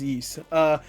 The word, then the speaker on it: Ys: I believe it's pronounced Yeast.